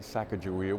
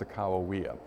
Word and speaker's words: Sacagawea: Some of us pronounce it Sacagawea, which is okay, but if you were a Shoshone Indian, you'd rather have it pronounced Sacagawea.